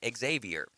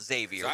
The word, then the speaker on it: Xavier: it to be called Xavier what in the world exactly right but Don said just educate yourself that's the that's the easiest way to do it it always that's right the ex is silent my bad it always